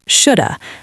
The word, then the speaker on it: should've: Should've sometimes becomes just shoulda. I shoulda gone. He coulda told me.